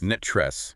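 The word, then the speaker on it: NTREIS: It said pronounced net tress like the word net followed by the word tres. Netress.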